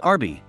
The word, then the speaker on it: Arby's: Roast beef abbreviated is RB, which is pronounced Arby.